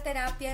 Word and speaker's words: terapia: la sílaba más fuerte en español decimos terapia y la sílaba tónica está en el medio de la palabra por ejemplo cuando hacemos